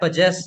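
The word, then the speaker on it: possess: इसमें आ रहा है पजेस। ये अमेरिकन प्रोनाउंसिएशन है। पजेस पजेस पजेस सुन पा रहे हैं? पजेस या या ठीक है। और ब्रिटिश बताता हूं आपको। पजेस ब्रिटिश भी पजेस है।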